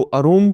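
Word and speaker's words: arum: तो अरूम के नाम से भी कई जगह आपको देखने को मिलेगा, लेकिन सामान्य तौर से इसकी जो अभिव्यक्ति है, इसका जो प्रोनाउंसिएशन है वो एरम के रूप में किया जाता है।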